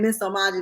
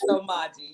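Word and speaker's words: Msomaji: So I've been saying Miss Omaji the whole time. So it's the M is silent. The Thank M is silent. you Yes, for that it's correction. Somaji.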